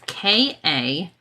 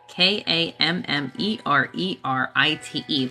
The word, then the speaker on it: Kammererite: It is Kammererite. Kammererite. That second ER is what's throwing me off. Kammererite.